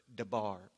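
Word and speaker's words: דבר: the hebrew root word davar or some people pronounce it debar excuse me it refers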